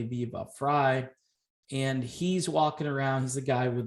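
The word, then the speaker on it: Viva Frei: uh viva fry and i mispronounced i said i think viva free but it's actually be about fry and he's walking around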